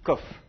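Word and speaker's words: קוף: aujourd'hui en hébreu moderne le CAF et le COF se prononcent de la même manière alors dites KOF parfait Sam mè a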